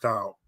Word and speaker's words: Tao: Eternal Tao well, it is Tao. It's said Tao and pronounced Tao. Okay, yeah, it's a soft T.